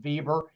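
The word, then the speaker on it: Weber: Compare the organization theories of Andre Fail and Max Vieber by the way we ber but it is pronounced Vieber.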